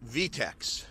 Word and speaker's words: Vite: Vite Wallet, V-I-T-E wallet, or it might be V-I-T-E, well, they call it VTEX. That's the right way to say it.